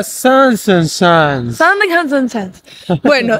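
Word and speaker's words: Zaanse Schans: Se llama Sandig Hansen Chance. Sandig Hansen Chance. No sé cómo se llama, pero ustedes lo leen ahí. Se pronuncia Sansen Chance.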